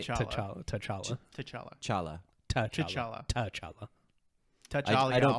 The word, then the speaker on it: T'Challa: a fictional country, and certainly not because King T'Challa won't investigate Joe Biden. That was good. T'Challa. Did I say it right? T'Challa. T'Challa. T'Challa. Chala.